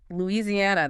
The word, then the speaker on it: Louisiana: Louisiana. That's a mouthful. It is five syllables. The stress comes late on the fourth syllable.